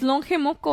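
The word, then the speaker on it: Lonje: It's longe moco. How do you spell it?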